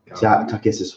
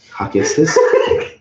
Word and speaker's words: Takhisis: Takissus won't be in there.